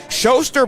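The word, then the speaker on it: Schoser: rides away one and0 showster by the way is spelled SC h o s e r as Mark Thompson gave me a pronunciation lesson here this afternoon here's the 1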